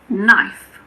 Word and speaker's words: knife: K is silent before the letter N at the beginning of a word. For example, knee, knife, night, not, no.